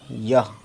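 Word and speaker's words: یہ: ये और छोटी है ज़बर यह, लिखा यह है लेकिन हम उर्दू में यह नहीं पढ़ते, यह पढ़ते हैं। ये पढ़ते हैं, सॉरी, यह को ये पढ़ते हैं। छोटी है इसमें साइलेंट है।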